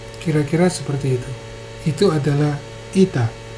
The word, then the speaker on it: eta: Itu adalah ita. Ita adalah E, walaupun bunyinya nanti dibacanya I.